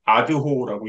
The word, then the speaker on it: ADHO: 그리고 차주황 선생님, 하비르 차 선생님이 댓글을 달아주셨는데 ADHO가 아니라 아드호라고 읽는다고.